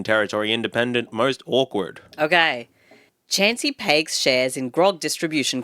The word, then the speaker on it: Chansey: Chansey, like the Pokemon.